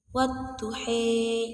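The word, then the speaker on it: والضحى: Pada ayat yang pertama itu dibacanya seperti ini. Wat-tuhe. Itu mengapa dibaca seperti itu? Karena antara fathah dan kasrah itu menjadi bunyi vokal e.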